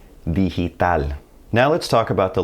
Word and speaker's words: digital: G before an I or an E is going to sound like an English H. Digital.